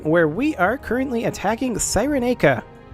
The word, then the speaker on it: Cyrenaica: Hello everybody and welcome back to Imperator Rome, where we are currently attacking Cyrenaica. I've decided it's a hard C for this 5 minutes. Pretty soon it'll be a soft C again, I'm sure.